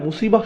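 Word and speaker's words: مصيبة: এটা একদম নিখুঁত নিশানা ছিল, এরপর আবার শব্দটি শেষে রয়েছে তা মারবুতা, যে জন্য আমরা মুসিবাহ উচ্চারণ করি, মুসিব না কিন্তু।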